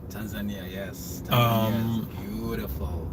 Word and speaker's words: Tanzania: I also want to go to, I believe I'm pronouncing it right, Tanzania. Tanzania, yes.